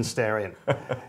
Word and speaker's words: Starion: people just accept that it's a Japanese pronunciation of stallion as in staran and I think that's